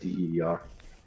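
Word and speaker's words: Deehr: Oh, I thought it was like deer, like D-E-E-R. No, it's pronounced deer.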